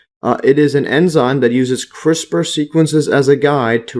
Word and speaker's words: CRISPR: all coming together now so crisper Gene editing pronounced quote crisper is a genetic engineering technique by which the